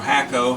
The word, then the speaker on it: Hakko: My Heiko desoldering iron here, desoldering gun, but you can't see it because I'm so magnified. It's a Heiko, or Hakko, however you want to pronounce it, H-O-K-K-O.